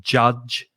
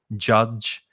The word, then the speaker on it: judge: careful of the pronunciation is that ju sound the same as in june january july so judge judge and the vowel sound is ah judge um so the judge